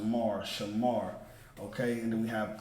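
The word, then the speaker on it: שם: But the Sha and the Ma become one word, one pronunciation becomes Sham, which means name in Hebrew. So if you want to say name, you would just say Sham.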